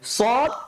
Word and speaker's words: সদ: সদটা কি হবে স্যার সদটা মোটা করে উচ্চারণ করতে হবে সদ আর বদটা কি হবে